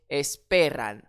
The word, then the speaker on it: esperan: dans le piège puisque le N fait partie de ces consonnes mais qui accentue sur l'avant-dernière syllabe. Donc esperan ils attendent Esperan celui-ci maintenant.